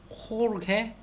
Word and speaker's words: Jorge: 이게 Jorg인데 G가 아우오하고 만나면 가구꼬 이렇게 발음이 되는데 이하고 아이하고 만나면은 개기가 아니라 해, 히 앞에 살짝 기역이 들어간 느낌으로 개, 기 이렇게 히읗 발음이 된다고 합니다.